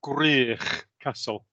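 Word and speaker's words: Gwrych Castle: to pronounce it for me well it's it's pronounced grier castle thank you and it means um i believe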